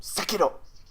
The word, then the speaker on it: Sekiro: into saying it correctly, you just say it like a hardcore samurai every time. Sekiro. Okay. I got too into it there. And just say the R is a D. The R is a D. Sekiro.